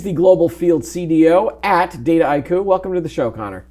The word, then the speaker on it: Dataiku: So it really is just a portmanteau, like data and haiku.